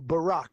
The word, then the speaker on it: Barack: Well, Barack like the president like Obama.